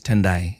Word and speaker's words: Tendai: you know so so my name is tendai you literally spell it as it is said yeah you know and